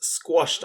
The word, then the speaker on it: squash: It ends with ASH for the OSH sound. The A is tricky here because it makes more like an O sound rather than an A sound.